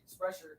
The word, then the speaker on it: Sprecher: How do you pronounce it? Sprecher.